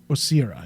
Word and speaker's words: Osira: Osira, is that how you say her name? Osira, yes.